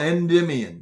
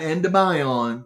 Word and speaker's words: Endymion: aware but remember that it's called endymion not endobion some people pronounce endymion